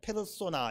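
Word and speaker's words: persona: 원래 라틴 말에서 이제 person이라고 읽지 않고 라틴 말식으로 읽으면 페르손, 페르소나 이렇게 읽어요.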